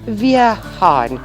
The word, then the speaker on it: Vihan: We discussed how to pronounce my surname too Vihan. as Vierhan. Vier. Vier as in Wehrmacht.